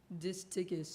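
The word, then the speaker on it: distichous: Disticus.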